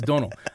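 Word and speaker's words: Domhnall: Donal it really is Donal I I know it's spelled all up but he even said in an interview he said it's pronounced like tonal but with the D and he's like that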